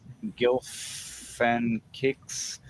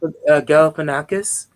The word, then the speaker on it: Galifianakis: All right, we got Zach Galifianakis. Why is your name so hard to Jack pronounce? Galifianakis.